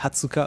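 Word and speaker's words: 二十日: Genre le 20, c'est pas Niju Ichi Nichi, c'est Hatsuka.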